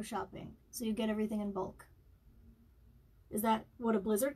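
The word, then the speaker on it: Imbolc: It's spelled I-M-B-O-L-C. So it's in bulk, not in bulk.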